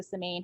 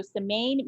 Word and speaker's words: Semaine: don't pronounce it correctly we pronounce it in a better american way and we we do